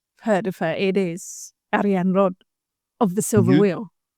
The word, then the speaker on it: Arianrhod: as well is that people will say Arianrhod, but the sound at the end is a, which is can't be replicated in the English language. So I've been practicing. It's Arianrhod that is more of comes from here somewhere. And the hord isn't just